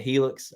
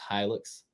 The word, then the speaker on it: Hilux: Some people pronounce it Helix. I even said that in the video, but I got corrected. It's Hilux.